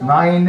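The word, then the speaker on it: nein: The difference between this neen and German is nine and neen. German is N-E-I-N, and Alsatian is N-I-N or N-I-E-N. Both of them are acceptable.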